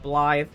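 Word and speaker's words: Blaidd: is all Scottish folklore based uh so it's pronounced blly um we met up with him uh and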